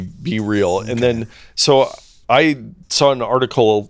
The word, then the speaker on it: BeReal: Well, they do capitalize the B and the R, so it seems like it'd be BeReal.